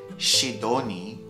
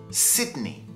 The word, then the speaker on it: Sydney: Petersburg stockholm stockholm Sydney Sydney again this is a mistake which is very often made instead of saying she Dorney Sydney it's more of a shot Sydney Sydney Vienna Vienna Zurich Zurich Athens Beijing Berlin